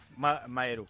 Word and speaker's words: Maeru: Maeru, ahora te lo digo. Es como cuando Marou, perdón, se escribe Marou, pero es Maeru.